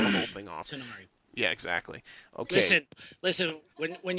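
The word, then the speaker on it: Tanar'ri: not Balor, or that the emphasis on Tannerai is on the second syllable and the I at the end is pronounced as it would in German. Oh goodness!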